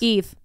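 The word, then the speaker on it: Aoibh: Do you want to know how it's pronounced? Please. Eve. No, it's not. Yes, it's Eve. B-H? Yes. Call 911. Her name is Eve.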